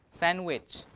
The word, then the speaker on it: sandwich: um in here sandwich sandwich now the D is not pronounced because when you have